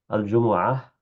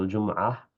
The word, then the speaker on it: الجمعة: الجمعة أو الجمعة أو الجمعة بضم الميم وإسكانها وفتحها قاله الفراء والواحدي.